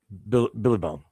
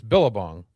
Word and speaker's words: Billabong: Billy Bong. It's Billabong. Yeah, why you say it weird? Jen and I say it right. You say it weird. It's not Billy Bong.